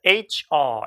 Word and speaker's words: HR: 자, HR 이렇게 발음하죠. 자, HR이에요. 자, 영국 성우빈이기 때문에 이제 R coloring이 빠진 거죠.